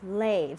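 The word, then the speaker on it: לב: All right, so your heart in Hebrew is pronounced lev.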